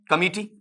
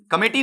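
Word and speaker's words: committee: Word यहीं से उठाते हैं आपका कौन सा, कमिटी, कमेटी नहीं होता बेटा, हिंदी में ले जाकर आप बोल सकते हो, इंग्लिश में इसका शुद्ध उच्चारण क्या होता है, कमिटी।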